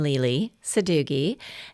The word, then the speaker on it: Lele Sadoughi: Um, first of all, they want to know how to pronounce my name. So, nickname Lely Suggi.